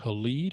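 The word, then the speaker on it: Halide: cameras but there's an app out there called elite i think i'm pronouncing it right h-a-l-i-d-e made by um you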